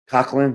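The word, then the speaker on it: Coquelin: With the celebrated actor Coughlin, I think, is that how you pronounce his name?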